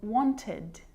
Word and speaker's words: wanted: they're not always pronounced like it is in wanted so you can hear the e d sound there it is it's its own syllable but a lot of